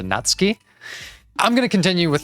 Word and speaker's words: Natsuki: By the way, I know that her name is pronounced something closer to Natsky.